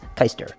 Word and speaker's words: Keister: ER yeah but it's the proper pronunciation is Hyster where's it from it's German actually I myself am NOT German my father is and ya know it's he pronounces it keister I don't know what